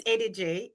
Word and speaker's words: Edidiong: So, my name is Edidiong. It's pronounced like you're saying A, letter A, day of the week, and J.